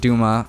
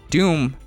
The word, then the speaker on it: Dume: Um, however, Doom Duma is pronounced Duma.